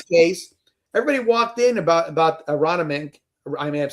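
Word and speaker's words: Aronimink: In this case, everybody walked in about Arana Mink. I may have said that right. Arana Mink is how you say it, right?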